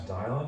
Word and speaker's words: Dialin: Uh, my name's Dialin. It's pretty close to Dylan. uh pronounced like dial on a phone.